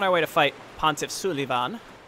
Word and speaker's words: Sulyvahn: way to fight pontiff's Suliban su davon it's his name that's how you pronounce it if you say it any differently you're wrong Oh God now God